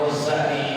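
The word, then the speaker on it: غزالي: Ya, nama Ghazali ini bisa dengan tasdid, bisa juga tidak pakai tasdid.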